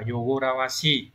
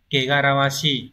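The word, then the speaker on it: 汚らわしい: Nó không phải đọc là Yogorawashi mà trong trường hợp này nó phải đọc là Kegarawashi mới là chính xác.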